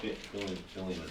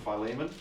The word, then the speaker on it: Philemon: No, not Filimon. Uh, well, I'm going to call him Phileiman.